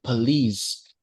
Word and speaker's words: police: This one the police. Okay. It is stress on the second syllable, right?